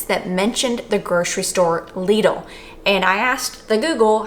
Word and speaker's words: Lidl: I said, "Do you say it lidle or do you say it lidle?" And the Googler told me it was lidle.